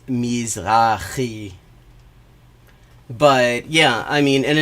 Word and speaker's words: Mizrahi: Because a lot of Jews lost a lot of property in the Middle East, Mizrahi Jews, in the... That's not how you pronounce that. It's Mizrahi.